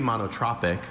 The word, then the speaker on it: monotropic: The bees, while not strictly monotropic, clearly preferred the white clover to the equally abundant alpine bistor.